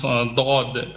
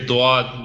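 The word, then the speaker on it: ض: For example, if before this I wasn't able to pronounce dod properly because I used to say duad like the locals do.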